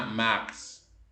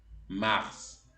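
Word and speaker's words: mars: excepción marzo se pronuncia la s final es una de las pocas excepciones en la en donde la s final se pronuncia entonces suena Max Max es una excepción abril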